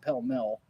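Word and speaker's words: Pall Mall: monterey is near okay paul mall okay i know that the cigarettes are called pill mill that's how you pronounce that but is it the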